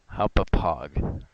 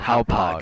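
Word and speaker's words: Hauppauge: Hopapog. No, it's called Hopog.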